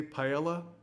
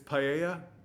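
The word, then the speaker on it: paella: you know UK okay why do you say Pella it's paa stop saying that it's wrong you're mispronouncing the word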